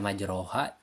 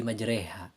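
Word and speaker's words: مجريها: ada tanda saktah nah cara membacanya yang asalnya dibaca majroha jadi majreha nah dimiringkan asalnya Ro Jadi re Nah contoh Bismillahirrahmanirrahim waqalarkabu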